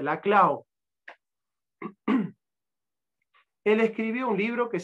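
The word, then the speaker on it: Laclau: la Clau la Clau muchos lo pronuncian como Ernesto la clo pero como no es francés se dice la Clau él escribió un libro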